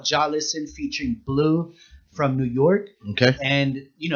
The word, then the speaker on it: BLVE: And Blue, it's spelled BLVE.